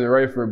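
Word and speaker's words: Raeford: um you're originally from is it rayford north carolina yeah that's how you pronounce it rayford but it's better known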